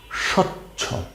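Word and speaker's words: স্বচ্ছ: দেখেন প্রথম যে শব্দটা দেখছেন এটা হচ্ছে সচ্ছ। স এর নিচে বফলা। সয়ে বফলা স উচ্চারণ কি হবে? স চয়ে ছয়ে ছ সচ্ছ। সচ্ছ।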